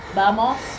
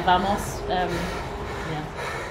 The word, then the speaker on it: vamos: And the V in the Spanish language is pronounced like B, so vamos. But I always get confused and say vamos.